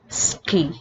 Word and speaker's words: suki: Another example is suki, which tends to pronounce as iski. So I'll repeat: des, mas, and ski.